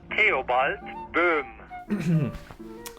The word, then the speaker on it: Theobald Boehm: I'm here to settle this controversy on the correct pronunciation of my great-great-grandfather's name. In the future, when referring to him, please try to say Theobald Boehm.